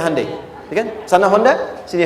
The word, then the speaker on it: Hyundai: Kita bisa kita dari tekad sehingga ketika di sana bikin Honda sini Hande Hyundai kan dibacanya Handai ya kan sana Honda